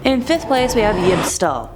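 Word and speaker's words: Yibb-Tstll: we have yib stall definitely had to look up how to pronounce that one to be save since it spelled out yib bb-t S L and I did not want to mess it up it's a more obscure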